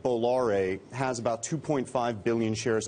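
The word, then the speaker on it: Bolloré: How about we spell it first for everybody? Okay. Sure. B-O-L-L-O-R-E.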